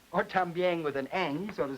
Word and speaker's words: también: They have a word in Spanish, también, which means also. T-A-M-B-I-E-N is the way it's spelled. But the speakers of Spanish, very frequently, particularly around Puerto Rico, for instance, will say both también and también.